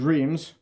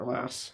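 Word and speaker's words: Reims: So this is reams. Uh the French pronounce it ras.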